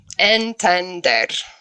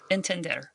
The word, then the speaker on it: entender: Entender. Entender. Perfecto. ER. Yeah. Entender. Entender. 3 syllables.